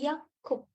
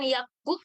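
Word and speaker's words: 약국: Oke, Yakup. Bacanya bukan Yakub ya, karena ini ada giok ketemu giok lagi. Dia jadi Kak.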